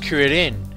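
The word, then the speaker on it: クリリン: Now keep in mind, in the Japanese version, Krillin's name is pronounced Kuririn, and the first part of his name comes from the Japanese word for chestnut, which is cure.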